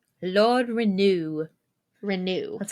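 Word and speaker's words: Renoux: Renault? Lord Renew. Renew. That's how Okay. that's how he says it whenever I'm like, is it Renault? And he goes, it's Lord Renew. Renew.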